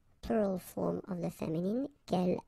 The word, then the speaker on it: quel: form of the feminine, quel, like that. So the first thing, the good news is that if you listen carefully, quel, quel, quel, quel, okay, so phonetically you get only one form.